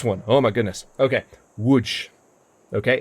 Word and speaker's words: Łódź: Okay, Łódź. Okay, it's not Lodz, it's Łódź.